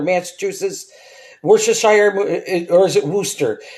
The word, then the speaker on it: Worcester: Wor Worcester. Worooster. That's how you pronounce it.